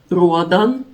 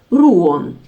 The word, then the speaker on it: Ruadhán: Although this saint's name is usually written and pronounced as "Ruadan" in Russian literature, I will pronounce it closer to the original Irish pronunciation: "Ruan," since in my videos I try to adhere to the authentic Irish pronunciation whenever possible.